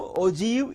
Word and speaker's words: ogive: The term Ogive is pronounced as Ogive, O-J-E-E-V, and is derived from the word Og.